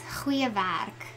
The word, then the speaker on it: goeie werk: When you pronounce G in Afrikaans, it's very guttural. To pronounce great job or to say great job in Afrikaans is goeie werk.